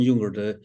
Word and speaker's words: Junger: So you said that when you were in Liberia, you were on assignment with Sebastian Junger. Is that how you pronounce his name? Yeah, I was on with Sebastian Junger, the best-selling author of The Perfect Storm.